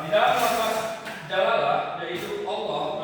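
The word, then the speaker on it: الله: Nah, di dalam lafaz jalalah yaitu Allah, tulisan Allah ini maka dibaca tebal jika didahului huruf jika didahului oleh huruf fathah ataupun domah.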